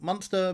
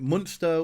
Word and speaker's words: Munster: Must make sure that I'm pronouncing it Munster, because I have a tendency to try and pronounce it Munster, which would be the German territory.